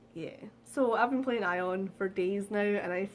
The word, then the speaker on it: Aion: However, one that I did find that was most highly recommended was Aion. I think that's how you pronounce it, is A-I-O-N, Aion.